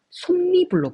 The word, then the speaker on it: 솜이불: 시작합니다 그렇죠 자 그리고 발음을 해보면 소미불로 발음이 되는게 아니라 솜이불로 발음이 됩니다 자 이런 거를 미운